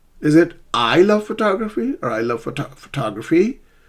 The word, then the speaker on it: photograph: Photograph. Photograph is a noun, but the first syllable is stressed.